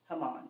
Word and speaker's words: Haman: the king's highest official is it pronounced hamon is that how it's pronounced h a m huh that's right hamon okay cuz I was